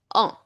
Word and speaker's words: on: At that time, you can use O N. It is pronounced as O.